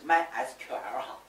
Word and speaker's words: MySQL: 而且买 SQL 这种正确的读音是 MySQL 哈。